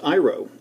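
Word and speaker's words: αἴρω: thinking this is all Greek to me it's pronounced iro and you can see the different definitions to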